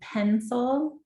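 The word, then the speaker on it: Pensole: with here in portland called pencil and that's spelled p-e-n-s-o-l-e and they work with students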